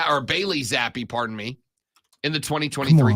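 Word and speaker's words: Bailey Zappe: not get anything out of Matt Jones or Billy Z or bayy zappy pardon me in the 2023 campaign don't get Bailey's name wrong my bad Bailey cuz he he's about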